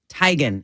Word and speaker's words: Teigen: last name is pronounced Teigen and then she looked at her mom she's like Mom what is our last name and her mom goes tygan and Chrissy's like do